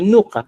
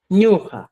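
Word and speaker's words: ñuqa: Nuja no existe, estimados amigos. Muchas veces, por ejemplo, lo que yo vi en Cusco, algunas personas dicen, oye, como el quechua se escribe en trivalente o trivocálico, vamos a escribir nuca. Esto, señores, no existe. Nunca no existe. Entonces, como no existe, ¿cuál es la expresión correcta? Es ñuja, según el quechua sureño.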